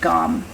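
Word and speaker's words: Gam: it's pronounced gone and so I do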